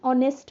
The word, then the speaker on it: honest: write it as honor honest so we will simply write and before them okay hence we say an honest man it's an honor because H is silent in these words that's why what we